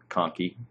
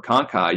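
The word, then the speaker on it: conchae: just like to say the word Cony or conai you can use either of those pronunciations what about the in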